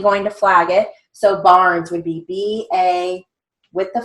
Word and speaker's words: Barnes: Again, Barnes, you may hear a Z or a final S. It depends on what you hear. You're definitely going to flag it. So Barnes would be B-A with